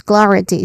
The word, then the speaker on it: clarity: First syllable is a stressed syllable cla and then which which has a consonant blend sound consonant cluster sound. Next is ra which has a short a sound cl.